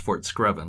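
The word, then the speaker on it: Fort Screven: of fort screvin called uh battery it is pronounced fort screvin right yes foreskraven yeah uh part of it called battery garland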